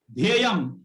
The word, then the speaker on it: ध्येयम: और किस तरह प्रोनाउंस करते हैं? ध्येयम, इट्स अ ध्येयम।